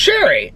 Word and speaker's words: Sherry: Oh, FYI, my name is pronounced Sherry, like the wine.